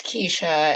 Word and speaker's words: Kesha: what saying your name is it Kia or Kesha it's Kesha and I'm very happy